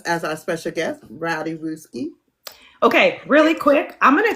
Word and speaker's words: Rooski: I know there's a tendency to have the ooh because the o, but it's rook. Rook, like in chess.